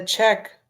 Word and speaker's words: Czech: it it says and this is how you pronounce that country again c z e c h zet the check check check okay check I keep